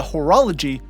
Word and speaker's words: Horologii: it’s known as Iota Horologii (horologist?) probably pronounced hor-oh-low-gee, but I'm pronouncing it the other way, is located here 56 and a half lightyears away.